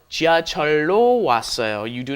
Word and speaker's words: 지하철로: It is an irregular because the lil up against the lil becomes a long L. 지하철로 왔어요.